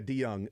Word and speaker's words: DeJong: pronounce the name right is it DeYoung is it Dijon yeah DeYoung uh shortstop for the Cardinals